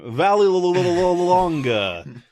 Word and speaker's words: Vallelonga: Yeah, and how do you pronounce that last name? Vallelonga.